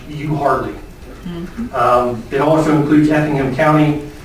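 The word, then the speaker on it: Euharlee: city in bartow county spelled e-u-h-a-r-l-e-e which i have since learned is pronounced you hardly it also includes effingham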